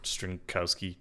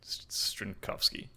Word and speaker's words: Strinkowski: strinkovsky which fun fact if there's a w and a name it's it's probably pronounced with a V and not a w it's not strinkowski strinkovsky anyway he said different